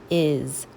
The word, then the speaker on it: is: All right, we're moving on to the word is. Is. Now it sounds like it has a Z, but it doesn't. It has the letter S.